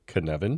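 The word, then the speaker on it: Kanban: give it a go is it Canan you got it perfect it is Canan you very good you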